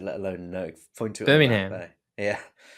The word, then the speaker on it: Birmingham: Birmingham. Yeah, you're over syllabbling it. Birmingham, mate. Birmingham. Birmingham. Birmingham. You're adding a syllable Birmingham. that isn't there.